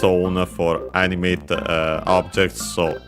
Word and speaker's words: を: uh noun which is Pokemon of course.